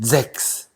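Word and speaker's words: Sechs: 그러니까 독일어로 다시 발음하면 잭스, 잭스. 그러니까 Z 발음 비슷한 거 있잖아. Z 발음. 잭스. 이렇게 얘기한다. 근데 이제 독일어 시간이 돼서 처음 배우는데 그럼 선생님이 막 너 읽어봐 이렇게 시키잖아.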